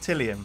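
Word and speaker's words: Tylium: Is that how it's pronounced? Tillium?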